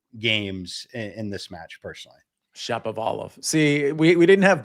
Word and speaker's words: Shapovalov: How do you pronounce that again? Shapovalov. Shapovalov.